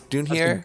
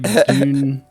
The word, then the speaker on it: Dunair: How do you pronounce the last name? Dunair? Dunhier? Great question. I like Dunair.